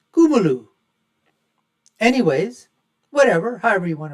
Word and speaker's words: Kamala: that Kuma haris and that is the way that her name should be pronounced I've T been told by Indian folks it's not kamla or Kamala it's kumu anyways whatever however you